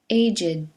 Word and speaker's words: aged: The following ed words used as adjectives are pronounced with id: aged, dogged, ragged, blessed, learned, wicked, crooked, naked, wretched. So we say, an aged man, a blessed nuisance,